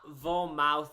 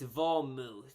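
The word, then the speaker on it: vermouth: this in my life it's not vom mouth it's vomuth I mispronounced a bunch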